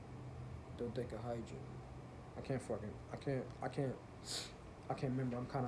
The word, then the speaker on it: dodecahedron: And I'm about to tell you in a second how to pronounce this shit. I think it's dodecahedron.